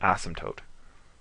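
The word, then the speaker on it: asymptote: line an ASM toote spell it out for you because it's doesn't quite spell the same way you read it an ASM toote there's a p in there and a t in there you can bet that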